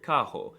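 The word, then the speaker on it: carro: break Hog Wild the r is very often pronounced as an H like in the word Kaho I grew up with a Brazilian named Lohan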